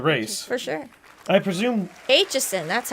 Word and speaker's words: Aitchison: Aitchison, that's how you say it.